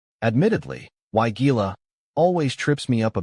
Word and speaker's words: Weigela: The way I've gotten it to stick in my head is to break it down into two parts. Why like in why not, and Gila, like saying, gee, look at those pretty flowers.